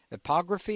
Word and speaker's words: epigraphy: Well, in addition to archaeoastronomy, you note that you refer to epigraphy. Is that how you pronounce it, or epigraphy?